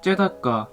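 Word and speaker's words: צדקה: 의는 히브리어로 째다까, 공도는 미슈파트라고 읽습니다.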